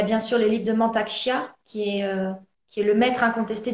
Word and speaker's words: Mantak Chia: sûr les livres de Mantak Chia, qui est le maître incontesté du Tao actuellement depuis des décennies. Mantak ok. Ça Chia, s'écrit comment, Mantaksha? M-A-N-T-A-K, M-A-N-T-A-K, Chia, comme les graines de chia, C-H-I-A.